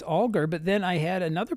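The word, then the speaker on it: Alger: last name aler algar well I used to pronounce it fenny algar okay or aler actually and then I met a a man whose last name was spelled that way and he said no no no it's alar and so for several years I was correcting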